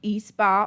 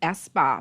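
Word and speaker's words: Espa: We have gift certificates from E-Spa, or actually it's pronounced S-Spa, Bahama, from Bahama.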